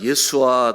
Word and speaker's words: 예수아: 이 여호수아의 이름이 또 어떻게 발음이 되어지는가? 예수아, 그렇게 발음되어진다 그랬어요.